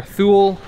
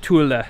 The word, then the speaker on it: Thule: correct Way Chula or Thule or tool I'm not exactly sure how to pronounce it but from my Swedish friend he said you pronounce it Tula so hopefully that is